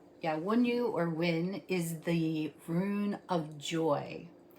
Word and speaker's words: Wyn: So today's rune is the rune Wyn, W-Y-N, Wyn, in the Anglo-Saxon Futhark, and it is called Wunjo.